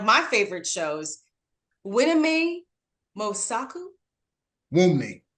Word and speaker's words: Wunmi: Wunmi. The N is silent. There you go. Wunmi.